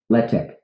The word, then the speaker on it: Letek: Letek. Mm-hmm. Wow, so you've played. Okay, God. Letek. Okay. Letek. Letek. Letek. Yeah. It's French for the tech. Okay. If only that we had only pronounced it that way, that would have been nice.